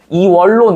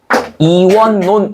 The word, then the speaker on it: 이원론: 이월론 이렇게 해야 되지. 근데 이렇게 발음하지 않고 실제로는 이원논 이렇게 발음한다. 이원론 이렇게 발음한다고. 얘도 니은니은 들어가 있죠.